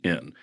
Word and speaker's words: Shann: My real name is Sean, but it's spelled differently, Shann. So it's more like Shan.